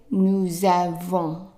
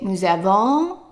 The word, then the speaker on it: nous avons: Okay, so S here at the end of nous, and then there is a vowel starting this word here. we will put them together and the S would be pronounced as Z. So we would say nous avons. Nous avons. Okay? And be careful not to say nous avons. Don't drag the end of the verb here.